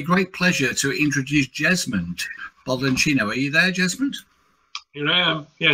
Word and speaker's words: Baldacchino: So, for those who don't know me, my name is Jesmond Baldacchino, not as John pronounced it, because he's from the UK, so if he pronounces it wrong, it's Baldacchino, John.